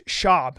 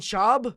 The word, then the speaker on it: Schaub: was Venezuelan where's Brandon Schwab from it's shab you have to say his name right Brenan shab yeah Brenan shab he